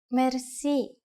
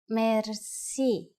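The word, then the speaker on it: мерси: you will be amazed which word that is merci merci Mercy is a long word from French but it is pronounced with a typical Bulgarian heart ra it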